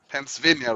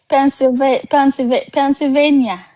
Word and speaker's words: Pennsylvania: There's another ones you guys pronounce Pennsylvania, right? Pennsylvania.